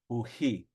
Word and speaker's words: puhi: Like I know in Pyramid Lake, for green, it is just simply pui without the H. Pui, pui. But blue would be with the H. Puhi, puhi.